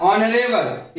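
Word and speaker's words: honourable: तो honest, our, ऑनरेबल, ये तीनों ऐसे शब्द हैं जिसमें एच का उच्चारण ह नहीं हो रहा है, ये तीनों शब्द में एच साइलेंट है।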